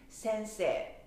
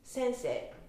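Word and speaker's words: 先生: It's sensei. So when I say it with Osaka accent, sensei, you hear the difference?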